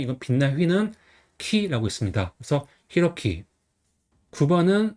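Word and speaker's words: 洋輝: 그래서 히로키 9번은 스기와라 유키나리입니다. 그래서 한자는 골프간 근원이 합차지 한자예요. 그래서 스가 그다음에 근원은 와라고 읽어요.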